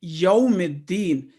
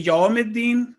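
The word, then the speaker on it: يوم الدين: For example, in yawmiddin, if we say yawmiddin, it will not be the correct pronunciation. Yawmiddin.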